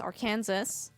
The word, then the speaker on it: Arkansas: This one is Arkansas.